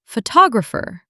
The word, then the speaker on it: photographer: The word photograph versus photographer. Notice how the stress moves. Photograph. Photographer. Perfect. Same root word, completely different stress pattern once you add -er.